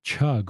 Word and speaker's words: Chugg: My guest on today's podcast is my friend Audrey Chug.